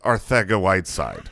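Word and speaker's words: Arcega-Whiteside: r theta white side with a th sound that is what we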